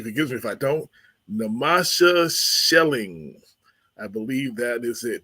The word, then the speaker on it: Namasha Schelling: I hope she forgives me if I don't namasha shelling I believe that is it did I pronounce your name right that is correct namasha